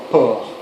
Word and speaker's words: porc: The same as in the word for pork, except it's spelled with a C, obviously, pronounced the same way, port. Port. Porc.